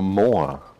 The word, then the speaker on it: Moa: which is like a I am mower yeah yeah no you said it wrong it's the more gosh it would be with the with the Maori accent it's like that big